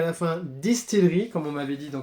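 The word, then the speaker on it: DSTLRY: de consonnes et le Y à la fin, Distillery, comme on m'avait dit dans Comics Co, ça se prononce comme ça, donc maintenant je sais, merci à vous pour l'info.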